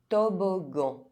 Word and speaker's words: toboggan: Double G followed by A, U, or O, one of the hard vowels, is pronounced G. And it's also quite rare. Toboggan.